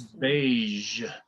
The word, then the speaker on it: beige: And the next one is beige, which is the same sound, the zh sound.